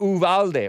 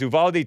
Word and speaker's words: Uvalde: very much and then i was calling it uvalde or ubalde ubalde texas it's like a border